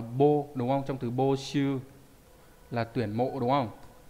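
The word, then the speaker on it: 募集: Đọc là bô đúng không? Trong từ bô shu là tuyển mộ đúng không?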